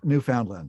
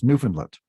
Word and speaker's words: Newfoundland: I said Newfoundland or something like that, and it's Newfoundland. Okay, got it.